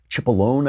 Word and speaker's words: Cipollone: The White House counsel, Pat Cipollone, I believe it's pronounced, wrote a letter saying, you have designed